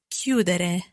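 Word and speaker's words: chiudere: the verb to close q that it's quite tricky to spell this verb i always think c c-h-i-u-d-e-r-e so again the stress they're happening on the the stem cue that let's put our endings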